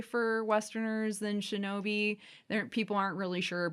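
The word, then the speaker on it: 忍び: of two kanji and in the native kunyomi reading it is pronounced Shinobi okay so it's one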